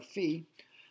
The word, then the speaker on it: phi: We're going to pronounce this phi, the Greek letter phi.